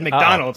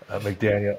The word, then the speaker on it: McDaniel: Well, McDaniel didn't want to accept the award because you called his name wrong. You said McDonald, so he didn't want to accept the award anyways. It's good that you switched it. Oh, okay. Whatever. McDaniel, and then look, the